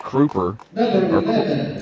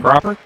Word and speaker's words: Cropper: Uh junior guard number five, Gage Crooer. Sure that's how you pronounce that. Um, Cropper. Cropper. Another junior.